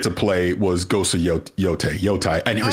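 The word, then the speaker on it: Yōtei: But what I did get to play was Ghost of Yotai. I never say it right. Yotai, you're fine.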